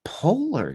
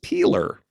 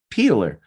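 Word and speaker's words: Poehler: and actor uh amy pollard am i pronouncing that right it's peeler peeler all right comic an actress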